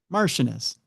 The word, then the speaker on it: Martianus: And I'll have Google tell you what it is. See, Google's always good for this. If I go like this, and then I have them play it. Martianus. Okay. Yeah, that's how you pronounce it.